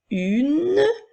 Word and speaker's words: une: Nous avons vu lors de la dernière capsule qu'il y avait parfois des lettres qui étaient muettes, qui étaient là pour faire entendre la dernière lettre, la dernière consonne. Alors, le son N s'écrit N-E. Une.